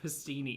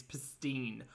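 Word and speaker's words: pastina: Oh, stop saying pastini. It's pastine. Oh, no vowel sound at the end.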